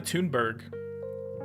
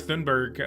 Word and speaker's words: Thunberg: and even some climate activists even um Greta tunberg tunberg I don't think that's how you say it Greta thunberg um even is saying like nuclear power is